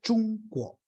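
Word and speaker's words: 中国: no lo tenían y Cómo se dice China en chino china en chino se dice chungo chungo chungo es centro quo es país Entonces es el país del centro no Mateo riches del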